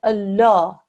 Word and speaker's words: Allah: the learner yourselves should be taught to pronounce the lumber sheddeth in the word Allah with a thick and broad sound it's only in the word Allah okay like here that's the